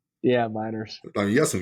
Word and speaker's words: Meinerz: Quinn Meinerz? Yeah, Miners.